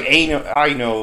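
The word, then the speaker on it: Ayano: them ano is it ano I don't know it's a y a n o yeah it doesn't sound like it's spelled though it's like a I know or something like that her face look weird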